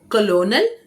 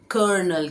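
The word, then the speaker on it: colonel: कॉलोनल कॉलोनल नहीं है जो कि मिलिट्री का कर्नल है। उनको हम कॉलोनल नहीं बोलते हैं। ये स्पेलिंग कॉलोनल है। लेकिन जब इसको हम उच्चारण करते हैं, प्रोनाउंस करते हैं तो इसे कर्नल कहते हैं। कर्नल कर्नल। कर्नल।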